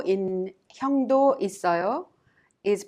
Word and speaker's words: 있어요: In our previous lesson, we learned that 요 in 형도 있어요 is pronounced 있어요. The final consonant double S in it of 있어요 is prolonged and connected to 어요 to be pronounced 있어요.